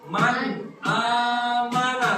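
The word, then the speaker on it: من آمن: Bapak sekarang ini bacanya Man amana 1 2 3 MAN amana sekali lagi mannya harus jelas Man amana s 2 T Man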